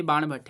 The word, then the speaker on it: बाणभट्ट: बाणभट्ट ने ही हर्षचरित लिखी है, ठीक है, गलत प्रोनाउंस मत करिएगा, ये बाणभट्ट है।